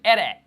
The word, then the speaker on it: Eren: It wasn't until I started watching it in Japanese that it all clicked in my head. It's like, Ere. That's how they say it.